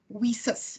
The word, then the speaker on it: WiCyS: a couple of ladies got together and started we sis that's how we pronounce it women in cyber security and we